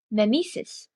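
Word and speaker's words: μίμησις: The English word mimesis is derived from the Greek word, spelled me, iota, me, eta, sigma, iota, sigma, pronounced mimesis.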